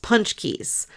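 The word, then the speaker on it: pączki: at the store and they're spelled like p a z or p a z c k SI or something I don't know how it's spelled but they're pronounced punch Keys they're so good the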